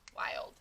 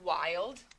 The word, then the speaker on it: wild: turn i old wild wild w says what this word wild like the word child that we did a